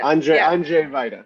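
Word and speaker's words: Andrzej Wajda: Andrzej Vajda.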